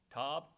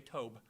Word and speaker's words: Tob: Tob, T-O-B. I was looking at it, wondering, Tob, whatever that's supposed to be. Huh? What's that? Just like job. Then I'm going to say Tob.